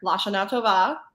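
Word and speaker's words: L'Shana Tova: Lashana Tova.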